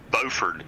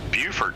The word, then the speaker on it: Beaufort: one in South Carolina spelled the same way and pronounced totally different Beaufort South Carolina and Beaufort North Carolina yeah